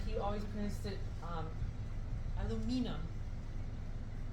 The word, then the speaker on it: aluminium: always pred it um aluminum the Brits pronounce it Al aluminium which makes no sense because there's no extra letters but they're weird about